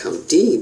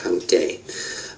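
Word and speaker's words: Countee: what appears to be you would pronounce it count D but it's it's pronounced count day uh County cin um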